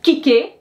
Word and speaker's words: kicker: In French, it's going to be the last one. So with kicker, you have to say, oh, it's like kick. Then they add an ER, which makes it a little complicated, but now I accentuate that last syllable.